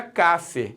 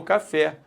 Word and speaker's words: café: palavra é claro que quando você fala café a sílaba tônica é o fé e pare porque se não fosse o fé eu falaria Cafe e não café Pô eu quero por